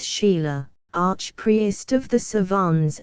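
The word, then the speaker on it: Chayla: bile frad de langlade du Shaya pronounce Sheila Arch priest of the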